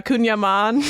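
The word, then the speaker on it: kouign-amann: style pastries croissants Tarts one I might even mispronounce uh kunyaman yeah you got it it's very good yeah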